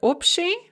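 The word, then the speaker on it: общий: see this most commonly in the word opti general or common and it's various derivatives such as abshizitia so that ba before the sha in opti or upshishitsya is pronounced more like a pair and there's your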